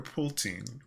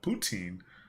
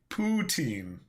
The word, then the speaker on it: poutine: do you say it poutine poutine or pulteen poltine poo po there's no l poutine poutine i don't know